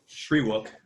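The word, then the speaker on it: Shyriiwook: Okay, so I would like to address the Wookiees and how do you pronounce that language? Shriwook.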